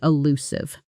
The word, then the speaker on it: elusive: The reason for his sudden silence remained elusive. Here's a quick listening and stress note for you. Listen to how the stress falls on the second syllable, elusive, not elusive, not elusive.